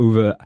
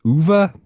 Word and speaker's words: Ove: uh Carl Uva's Carl UVA. I looked up ways to pronounce it. Apparently it's UVA. I don't know. But UVA. Okay. That's how I heard him say it one time. So, um, uh, yeah, we're